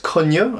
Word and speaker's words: Cognot: uh replica made by fabis coo a friend of mine it's spelled cogut incidentally but I'll put